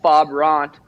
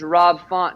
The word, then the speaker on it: Rob Font: I did call out Fob Ront. His name's Rob Font, and people were like, you said his name wrong.